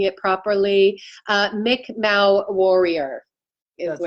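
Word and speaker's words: Mi'kmaq: uh mick i i don't know if i'm pronouncing it properly uh mick mao warrior that's right yeah yeah that's our first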